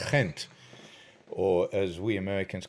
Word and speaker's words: Ghent: it's in uh i've i've learned that it's pronounced gent or as we americans call it uh ghent um it is a uh a beautiful day